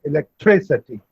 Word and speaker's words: electricity: And in electricity, the stress is on 3, electricity.